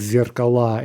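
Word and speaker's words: зеркала: Zirkala becomes zirkala in the plural. Okay, so that's basically the pattern we just saw with the two syllable nouns.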